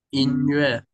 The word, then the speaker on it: 音乐: 欢乐。sau này mình sẽ gặp từ lơ này có một cách đọc khác là yue ha, ví dụ in, 音乐，音音乐，乐对，哈，OK，或者乐队，乐队，tức là